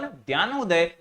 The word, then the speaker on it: ज्ञानोदय: डीपी यानी दर्पण, ज्ञानोदय और प्रभाकर। ये डी जो है यहां पर साइलेंट है, ज्ञानोदय इसे आप कह सकते हैं।